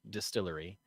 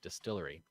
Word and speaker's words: DSTRLRY: scene that is uh it's pronounced Distillery but it is spelled without any vowels uh d-s-t-l-r-y Distillery um okay coming from